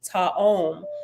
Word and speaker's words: Tayom: And 13 says, Tayom means one of a set of twins and is pronounced Ta'om.